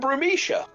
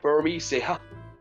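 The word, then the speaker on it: Burmecia: Another couple from Brumishia. Or is it Brumia? I'm going to say Bisia. I know. Burmeseia. B. Burma. Burmesia. I've been saying it wrong for years.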